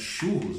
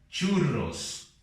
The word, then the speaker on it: churros: Outra coisa bastante conhecida, que é os famosos churros, né? Em espanhol nós escrevemos assim e pronunciamos chu, já com a R forte, churros, churros, ok?